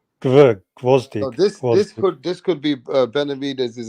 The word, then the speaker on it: Gvozdyk: Gawastik. Is that how you pronounce his surname? How do you pronounce his surname, Mirage? Gvozdik. Gawastik. Gvozdik.